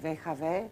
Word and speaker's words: WHW: of curatorial collective WHW, which we actually pronounce VHV in a Croatian pronunciation of English abbreviation of What, How and For Whom, which is the title of a collective.